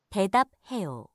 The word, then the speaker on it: 대답해요: 대답해요. Also same. So 부 and 흐 meets, then it's 프. So 대답해요 is the right pronunciation.